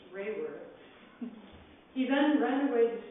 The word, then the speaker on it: Raworth: at a teacher who insisted he put a y in his name as it is pronounced rayworth he then ran away